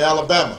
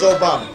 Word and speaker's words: Obama: funny name barack obama although they wouldn't say it right and they'd call me alabama or they'd call me yo mama and i'd have to explain i don't have to explain my name's obama and my father was